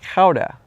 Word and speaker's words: Gouda: here, spelled G- O U D A is pronounced Kha. And it's named after the city of Kha, which is where the traditional cheese trade started in about the year 1198.